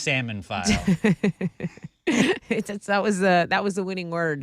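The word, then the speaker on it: psammophile: Pronounced salmon file.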